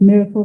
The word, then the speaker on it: MRKL: is spelled mrkl that's it's actually you um pronounce it Miracle systems and these are the two research papers